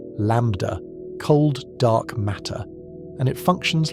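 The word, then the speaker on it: ΛCDM: Modern cosmology uses a working model called LCDM, pronounced lambda, cold dark matter, and it functions like a shared set of rules.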